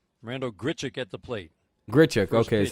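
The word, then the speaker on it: Grichuk: physically do that randall grichard gets the plate grit checker okay that's how you say his name oh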